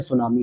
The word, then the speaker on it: tsunami: है, जापानी भाषा का, जिसको इंग्लिश में अगर आप देखोगे TSUNAMI, जिसमें क्या होता है, टी स्पेशली साइलेंट हो जाता है और हम केवल प्रोनाउंसिएट किसे करते हैं दोस्तों, तो केवल इस वर्ड को करते हैं, सुनामी को।